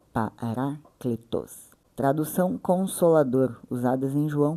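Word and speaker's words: παράκλητος: Eh, a pronúncia é paracletos, né? Pronúncia grega paracletos.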